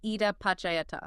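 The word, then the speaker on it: idappaccayatā: We are unpacking a concept called ida pakayata. It is a bit of a mouthful pronounced ida pacayata.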